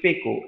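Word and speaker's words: Pekoe: কিছুদিন চা ব্যবসায়ীও হয়েছিল কিন্তু খুব তাড়াতাড়ি এটার উচ্চারণ হচ্ছে পেকো এন্ড সাউচং চায়ের নাম নিয়ে বিরক্ত হয়ে গেছিল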